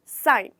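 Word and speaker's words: sign: ठीक है, और यहाँ पे हम बोलेंगे साइन, जहाँ पे हमारा लेटर जी साइलेंट हो जाएगा।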